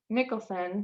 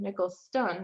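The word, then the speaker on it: Nickelston: subconscious and according to perry nicholson nichols stone actually i've been saying his name wrong forever um it's not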